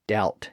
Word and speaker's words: doubt: those words now had silent letters that just stuck out like a sore thumb you might remember that that's how we got the b in doubt and debt and the p in receipt well as it turns out